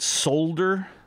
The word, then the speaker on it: solder: solder it in yeah s-o-l-d-e-r you could pronounce it solder but i think in canada they pronounce it solder with an l but the american pronunciation is with no l it's a silent l i don't know why